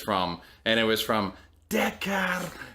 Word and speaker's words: Dakar: And the reason why I say it like that is because I wanted to know how to pronounce it for when I came on the podcast to talk about it, and that is literally exactly how the like text to speech thing worked.